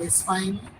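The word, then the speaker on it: Espagne: इसके बाद जो फेमिनिन कंट्री है स्पेन, स्पेन को फ्रेंच में बोलते हैं स्पाइन। स्पेलिंग लिख लें, ESP AGNE, स्पाइन, स्पेन।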